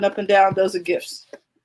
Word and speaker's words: GIF: Those are GIFs. It's GIF, like in peanut butter.